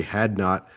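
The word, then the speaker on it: Hadnot: Wayne's leading scorer Cory had not love that name. Love that name. Had not. I'm so glad it's pronounced that way too.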